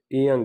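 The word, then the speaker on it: 이응: अब जो ईयंग है ना अगर ये स्टार्ट पे आता है तो इसकी कोई आवाज़ नहीं, साइलेंट है, खामोश लिखा हुआ है। अगर ये सेंटर में आता है तो फिर भी ये साइलेंट होगा। अगर ये एंड पे आता है तो इंग की आवाज़ देगा, आई एन जी की आवाज़ होती है, तो ये उसकी आवाज़ देगा।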